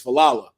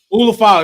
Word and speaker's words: Ulafala: OTC comes out to re-get his I always say it right, his falala. Ulafala, that thing, not his falala.